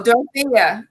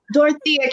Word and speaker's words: Dorethia: You gotta pretend the E is silent, and then you'll be okay. Oh, Dorethia.